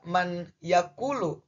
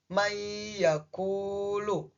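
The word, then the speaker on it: مَنْ يَأْكُلُ: Nah, berarti macanya tidak man yaakulu, tetapi dibaca may yaakulu.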